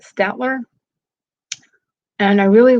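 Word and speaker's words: Staedtler: And then I got a set, a larger 12 color set and they were, I think you pronounce it Statler.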